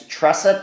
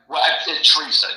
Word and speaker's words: Teresa: The woman's name, I understand, is Tressa, Tresa. Is that how you pronounce it, Blake? Teresa. Yes, Teresa. Okay, very good.